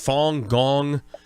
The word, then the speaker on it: Falun Gong: backing and has to do with is it pronounced Falun Gong and yes tell me about that many of